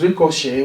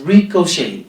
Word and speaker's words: ricochet: we pronounce it as ricochet with the Sun T silent because of its origin which is French and so it should be pronounced as ricochet just like ballet Malay and so on